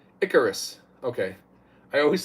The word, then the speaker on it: Icarus: a big big difference Michael L says Steve I Caris is pronounced Icarus okay I always say I Caris I'm not